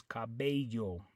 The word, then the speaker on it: cabello: that is Paylo but over here on the word Cabello you have two L's and the way you pronounce it is Cabello okay so the biggest